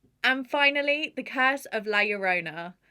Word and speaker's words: La Llorona: finally the curse of la yorona i think i'm pronouncing that right i'm just going with the double l meaning yeah i knew i